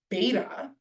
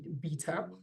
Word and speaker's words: beta: Greek letter Theta or beta or as the Americans say beta we don't call it beta in South Africa we call it beta and Alpha these three